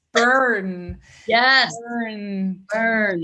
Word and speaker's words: Bern: It's burn. Yes. Burn. Burn. In German, we pronounce it BERN.